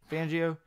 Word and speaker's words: Fangio: with Sam Donald yeah Broncos Vic Fangio you pronounce it yep Fangio Jackson do you like this move I really